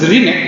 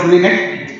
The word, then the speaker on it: LRINEC: It is pronounced as RINEC, not as LINEC, LRINEC, and which includes these variables, CRP, WBC, hemoglobin, sodium, creatinine, and glucose.